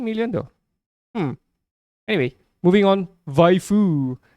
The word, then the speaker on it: waifu: VVAIFU. VVAIFU. Actually, it's supposed to be pronounced as waifu, but anyway, for Dasha, we are okay.